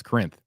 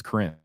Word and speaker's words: Corinth: Porter's Corners near a town that I can't pronounce. Corinth? That's Corinth. I thought I was going to mess that one up, but no, I believe it's Corinth.